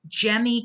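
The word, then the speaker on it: gemmae: Another way that via fragmentation is with these cool structures that are called gemmy cups. So it's like gemmy, not gemmy is how you say that, like a gemstone.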